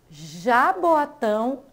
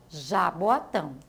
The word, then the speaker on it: Jaboatão: ler o primeiro pedaço a primeira sílaba é a já o segundo vó o terceiro a e o quarto TAM tão então Quatro pedaços quatro sílabas formam uma palavra a palavra Jaboatão e agora vamos ver